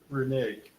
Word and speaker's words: renege: deal, Renege. is that really the pronunciation?